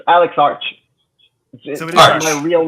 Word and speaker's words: Arch: Is it Arch or is it Arch or how do you pronounce your last name? Well, it's Alex Arch. It's Arch.